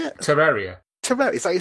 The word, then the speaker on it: Terraria: Souls 2 oh Dragon Age Inquisition and uh Terraria is that how you say it Terraria Terraria is that you say it that's right